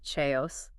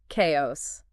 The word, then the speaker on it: chaos: that's almost ironic chaos ever hear people say chaos all the time it's like they're adding to the chaos by mispronouncing the word for it it's kind of